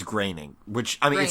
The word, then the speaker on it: Groening: Oh, he's related to, it's Groening, which, I mean, Groening. it's not your fault. It's spelled Groening.